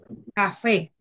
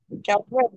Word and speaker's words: café: Sería una palabra aguda. Aguda. ¿Por qué palabra aguda? Vamos a ver. Rosbelly, tiene la mano levantada. Porque está acentuada en la última sílaba.